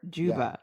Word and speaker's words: Juba: what again master master Juba okay and then you know over the years it was Jay King you were jigging over the years or help me pronounces Juba DJ oh you BA mhm she's too young